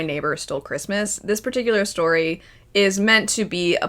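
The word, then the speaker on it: Storee: the story, her name is Story, spelled I think s t o r e e because I listened to the audiobook for this one and I looked it up and I believe that's how it's spelled.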